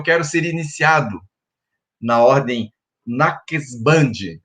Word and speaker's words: Naqshband: ser iniciado na ordem Naqshband, é mais ou menos essa a pronúncia. Tem muita consoante, é difícil a gente dizer, mas é Naqshband, uma das ordens do sufismo.